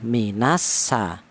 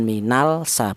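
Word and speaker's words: مِنَ السَّمَاءِ: dengan huruf sin maka lam sukunnya hilang diidgamkan ke huruf sin. Cara bacanya minas sa bukan minal sa bukan.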